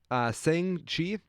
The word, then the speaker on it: Shang-Chi: Shang-Chi. Spell it.